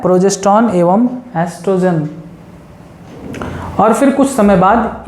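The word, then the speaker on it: estrogen: यहाँ पर ओ साइलेंट होता है, एस्ट्रोजन ही पढ़ा जाता है।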